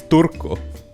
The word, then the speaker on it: Turku: the names right yeah how's it actually pronounced it's turko and uh this guy's name